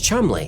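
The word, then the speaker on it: Cholmondeley: One of the British intelligence officers working on crafting this deception was Charles Chumley.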